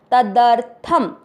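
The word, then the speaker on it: तदर्थम्: और फिर थ पूरा है, थ में मिक्स कीजिए। तदर्थ, शब्द पूरा होने के बाद थ पे अनुस्वार आधा म, थम। तदर्थम, त थ द, इन तीनों का उच्चारण क्लियर रहना चाहिए। तदर्थम।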